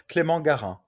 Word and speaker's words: Clément Garin: Am I saying it right? Clement Garin or? Yeah, it's not far. It's Clément Garin. It's not far. Clement Garin. Yeah, Okay. you got it.